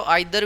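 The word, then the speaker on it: either: Each every, देखो नाइदर नीदर दोनों ही pronunciation सही है। नाइदर भी बोल सकते हो, नीदर भी बोल सकते हो, आइदर भी बोल सकते हो, ईदर भी बोल सकते हो, दोनों ही सही हैं।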